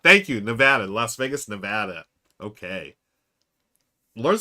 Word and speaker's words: Nevada: You said it right. Not ah. Thank you, Nevada.